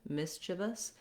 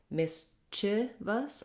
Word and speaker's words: mischievous: It doesn't really matter if I say mischievous or mischievous. That syllable is so short and reduced that either of those vowels will be okay.